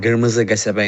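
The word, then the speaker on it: Qırmızı Qəsəbə: It's called the Red Town, or Kırmızı Gasabe in Azerbaijani. That's how we pronounce it.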